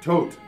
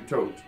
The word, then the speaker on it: Thoth: to find out that the way to pronounce that is tote, like a tote bag. I've been calling him Thoth all my life. He's actually tote.